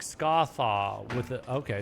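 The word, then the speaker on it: Scathach: So, Scathatch would be pronounced something like Scarth with a Okay, Scarth with a bit of roughness at the end. Scarth, similar to how Ahmed is pronounced Ahmed. Scar. Okay, thanks. Scach.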